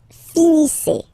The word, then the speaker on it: finissez: Vous finissez. Vous finissez. Okay? A Z at the end gives you the sound E.